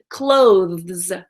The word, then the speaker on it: clothes: wear clothing clothes now this word is difficult because of the th es ending that lives closes you guys know that that th sound our tongue has to come forward in between our teeth and then so our